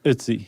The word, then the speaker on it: Ötzi: Yes, it's Ötzi. Okay. It rhymes with Tootsie.